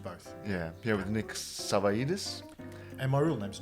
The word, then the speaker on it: Savaidis: Savaidis, sorry. Savaidis is the anglicised version. The real version is Savaidis. Savaidis. That's much better. That's the way Greeks actually say it.